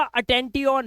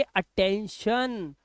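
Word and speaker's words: attention: और इसे मैं पढ़ लूंगा अटेंटियन, नहीं इसे पढ़ेंगे अटेंशन।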